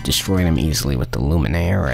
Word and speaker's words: Luminaire: them easily with the luminaire ik lumen air that's how you pronounce all right all right